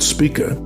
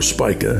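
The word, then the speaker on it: Spica: Now, in between Leo and a brilliant star in Virgo called Spika or Spya, however you want to pronounce it, there lies a region in the heavens there.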